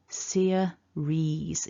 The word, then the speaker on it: series: So remember, it's two syllables, and that I and E are covered by the long E vowel. Series, ease, series.